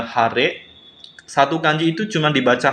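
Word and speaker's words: 晴れ: Kemudian cuaca masih ya minasang, yaitu langitnya cerah, dibacanya hare.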